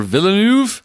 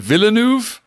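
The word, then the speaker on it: Villeneuve: So, the big discussion news is that Denny Vanu or Villanuv, is it Villanuv? I think you just pronounced the L's. It's Villanu.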